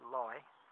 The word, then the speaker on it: Leigh: believe West Sussex walking across to Lee pronounced lie and that's a journey